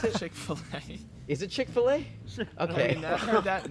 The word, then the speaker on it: Chick-fil-A: And I had Fil-A. Is that how I pronounce it? Chick-fil-A. Is it Chick-fil-A?